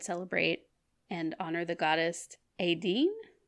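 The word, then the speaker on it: Étaín: Pagan Ireland would celebrate and honor the goddess Aideen. It's spelled Etain. Aideen, yeah. Okay. Like now the modern name would be Aideen.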